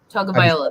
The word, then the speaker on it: Tagovailoa: I think it's Tagovailoa. Tagovailoa.